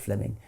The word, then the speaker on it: Fleming: Jenkin was simply it's written Fleming but is pronounced Fleming um Fleming Jenkin was simply saying manifest facts